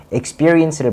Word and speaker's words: experience: A가 이렇게 들어간 발음인데, experience를 보면은, 한번 해보시면은, experience. experience라고 조금 이렇게 벌버무리면서 말하실 수 있어요. 하지만 여기서 experience라고 E를 강조시키면은 훨씬 더 원어민처럼 말할 수가 있어요.